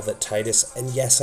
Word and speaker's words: Tidus: is a spell that Titus, And yes, I know that officially it's Tetus, but seems like Square Enix can't even fully nail that down when you have characters in uh, Kingdom Hearts that also say Titus.